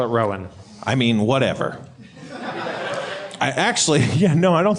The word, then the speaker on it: Roan: Rowan, or Roan. R-O-A-N. I think that's just Roan, right?